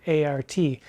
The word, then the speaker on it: heart: And Booth notes that heart may have been pronounced just like the word art, A-R-T. So, like brain and art have faculties to subsist.